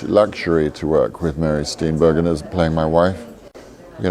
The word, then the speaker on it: Steenburgen: He'll tell us, is it Mary Steenburgen or Bergen?